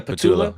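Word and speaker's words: Patullo: Yeah, Patula.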